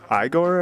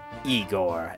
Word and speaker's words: Igor: helper, if you will, Igore, I believe his name is. Uh, it's pronounced Eigor.